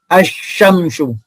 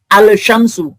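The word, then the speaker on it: الشمس: Contohnya, ini kan dibaca asyamsu. Ya. Bukan al-syamsu atau dibaca wasyamsu, bukan wal syamsu.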